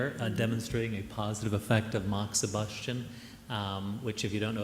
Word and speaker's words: moxibustion: Because I'm not going to pronounce it correctly. Moxibustion. Yeah. Moxibustion.